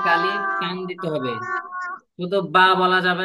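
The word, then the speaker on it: ب: এটা ইনশাল্লাহ শিখবো তাহলে এই বা টা কিভাবে উচ্চারণ হবে সবাই খেয়াল করেন বা বা টান দেওয়া যাবে না একদম টানতে টানতে বেশি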